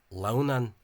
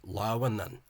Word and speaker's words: Lughnasadh: So again, an Ulster speaker might think that this is pronounced Lughnasadh as 2 syllables, but it's not. It's 3 syllables. Lughnasadh, 3 syllables.